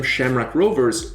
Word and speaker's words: Shamrock Rovers: have told me that everyone calls them shamra Rovers rather than the Irish pronunciation but I had to